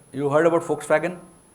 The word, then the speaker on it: Volkswagen: backfired so it can it is never pronounced as V it is pronounced as F and so your name